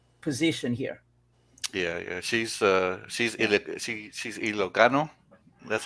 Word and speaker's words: Ilocano: She's Ilocano.